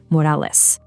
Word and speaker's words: Morales: Our Miles says Morales, you know, the way you'd expect. But Prowler Miles, he gets all fired up and insists on the proper Spanish pronunciation, Morales.